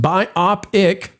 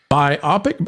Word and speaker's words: biopic: Detail Devil for $1.99, pronounced biopic. Biopic?